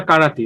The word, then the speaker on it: করাতি: করাতি না কারাতি না কেরাতি, কোনটা দেবরাজ ভাই সঠিক উচ্চারণ? স্যার করাতি। করাতি, আচ্ছা ফাইন।